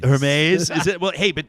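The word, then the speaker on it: Hermès: I see somebody's CH Alyssa's chirping me for my for my pronunciation of of what was this store Hermes h e r m i don't know do you know it's like a luxury story believe it's pronounced Hermes Hermes is it well hey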